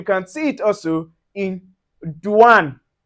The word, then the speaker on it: douane: So you can see anywhere you see the o u plus the i or you can see o u plus a vowel. So it gives us the oui.